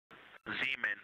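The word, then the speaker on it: Zeman: Zemen. Okay. And can you say the first letter? I may be pronouncing that wrong.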